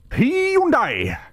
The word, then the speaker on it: Hyundai: Hyundai! That's how you pronounce it.